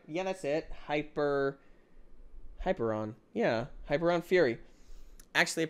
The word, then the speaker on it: Hyperion: I say it right yeah that's it hyper hyperon yeah hyperon Fury actually a pretty nice Mouse